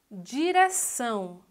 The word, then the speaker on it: direção: Direção. Olha, a sílaba mais forte, são. Então, a classificação dessa palavra é oxítona.